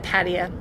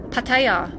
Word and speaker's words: Pattaya: a tiny plane and headed to patio or as the locals say it Pattaya landing into Nepal